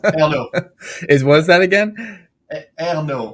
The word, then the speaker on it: Ernault: Ernault, like air, like oxygen, like air and no, like there's no oxygen. Like Ernault is like the kind of French. Yeah, Ernault is the French way of saying that.